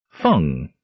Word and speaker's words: Feng: Feng. In CM, a Duke of Kusan. A common Chinese surname rhyming with Hung.